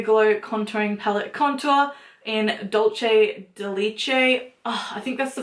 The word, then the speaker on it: Dulce de Leche: This is the Mega Glow Contouring Palette Contour in Dulce de Leche.